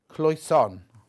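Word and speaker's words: Cloisonné: Cloisonne.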